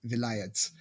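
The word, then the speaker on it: vilayet: You just said wilayat and vilayats, and that's actually the same word. It's just vilayat is the Turkish pronunciation, and so they spell it differently. And wilaya in Arabic.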